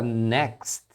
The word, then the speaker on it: next: de pronúncia a palavra next você tem esse T final depois do x e é comum que eles não pronunciem esse T final eles então você ouvir